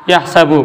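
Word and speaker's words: يَحْسَبُ: Yahsabu pakai fathah, yahsabu.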